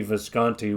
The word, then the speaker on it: Visconti: Tony Visconti, yeah.